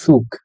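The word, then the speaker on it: Zug: ওর লাস্টে যে সেট আছে, সেট দিয়ে সেট উ গে, একত্রে সুগ।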